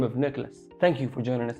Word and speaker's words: Nicolas: that's why right away the s but you never pronounce it now you know now